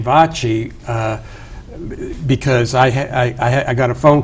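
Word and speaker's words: VACI: I know you pronounce it correctly. Vachi.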